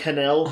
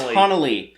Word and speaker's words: Hanelle: Were we saying like Hanelle? I always thought it was Hanelle Culpepper. Yeah. But it's Hanelle.